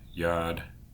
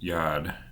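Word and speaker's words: Yod: hey of these letters the first Yad is equivalent to the English I pronounced as e in the word machine the second and fourth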